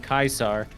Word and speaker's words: Caesar: just remember i mean everybody's been saying kaisar which is like correct and then all of a sudden they do this like ecclesiastic pronunciation yeah i don't